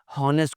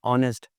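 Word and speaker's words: honest: हॉनेस्ट कोई लफ्ज़ नहीं होता, ऑनेस्ट।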